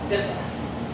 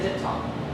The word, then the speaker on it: diphthong: I say diphthong. Okay, but some teachers pronounce it diphthong.